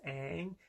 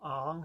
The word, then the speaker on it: Aang: Also, I don't get why they mispronounce Aang. They call him Ong for some reason, and then they mispronounce Avatar.